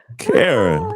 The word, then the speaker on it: Kara: Kara rhymes with Sarah.